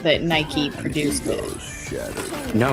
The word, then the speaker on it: Nike: produced uh is it Nike or Nike advert? I don't I'm never quite sure how to pronounce it. It's Nike. It's named after the goddess of victory, which is pronounced in the British fashion as Nike.